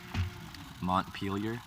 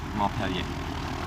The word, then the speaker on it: Montpelier: Oh, you don't say it pronounced the T. Montpelier. Okay. Montpelier.